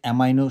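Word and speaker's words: amino: অনেকগুলো আমরা নাইনট এটাকে অ্যামাইনো শব্দ পড়ছি। এটা উচ্চারণ অ্যামিনো এসিড বলে। ইন্টারমিডিয়েট আপনার এমিনো উচ্চারণ আছে সবগুলো বইতে। অ্যামাইনো এসিড বলা যায় কিন্তু অ্যামিনো এসিড বলাই বেটার।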